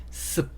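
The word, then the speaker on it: soup: 자, 이번에는 스프인데 이 단어를 습 이렇게 읽으시면 돼요. 습. 숲이라고 읽으셔도 되고 습이라고 읽으셔도 돼요. 그 중간 어딘가니까 뭐 크게 뭐 숲이라고 하든지 습이라고 하든지 뭐 크게 차이는 없어요.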